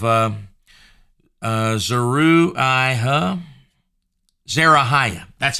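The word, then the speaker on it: Zeruiah: sons uh of uh uh zaru I huh Zara Haya that's how you say it zerohaya there zerohaya is David's sister okay so that's joab and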